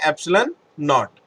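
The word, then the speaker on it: ε₀: वैसे ही यहाँ पर इसको पढ़ते हैं हम एप्सिलॉन नॉट, इसको हम प्रोनाउंस करते हैं एप्सिलॉन नॉट।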